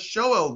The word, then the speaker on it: Sheol: Now, what does Sheol mean? Or Sheol is the way it's actually pronounced in Hebrew.